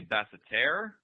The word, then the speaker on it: Basseterre: I think it's technically basseterre. I think it's basseterre, like almost like French, but call it St.